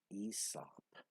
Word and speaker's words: Aesop: The A is silent, and you just pronounce it Aesop. Aesop.